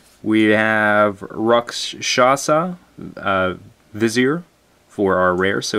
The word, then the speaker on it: vizier: plus one counters on the visor or vizier vizier yeah there we go vizier I don't know why I'm mispronouncing that vizier um so pretty sweet